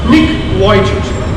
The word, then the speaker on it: Nick Vujicic: A famous person, Nick Vujicic, usually people say Nick Vujicic or something, actually it is to be pronounced Nick Vujicic.